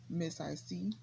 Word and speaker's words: mzicee: 33 that's 33 which it's pronounced miss i see but since a couple of